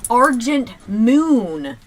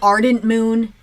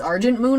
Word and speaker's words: Argent Moon: I was going to say Ardent Moon and then I realized it was a g and so that's why it sounded a little choppy but it's Argent moon I I guess that's how you pronounce it yeah looks like